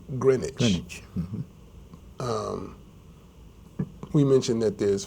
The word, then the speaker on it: Greenwich: was named after the green witch but it's pronounced Greenwich um we mentioned that there's father demo Square